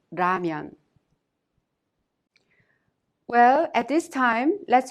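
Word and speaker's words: 라면: strong H sound lastly there isn't an exact match to the Lyra sound in English but you can consider it a sound in between the L sound and the R sound so when you pronounce diamond it's not ramyun or lamian it's ramyun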